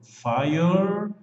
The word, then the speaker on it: fireman: Fireman. Fireman. Fireman. Não pronuncie o E depois do R. Termina no R, do R pula para o M de man.